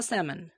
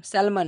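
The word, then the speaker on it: salmon: He needed to বাই a pound and a half of আ স্যামন। দেখো আমি উচ্চারণ করলাম কি স্যামন, স্যালমান না, এখানে এলটা কিন্তু সাইলেন্ট থাকে।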